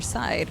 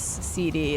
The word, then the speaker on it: CD: It would make sense that it would be pronounced Side, but it's literally just the first two letters of my first and last name. Hence why it is CD. It's just my initials.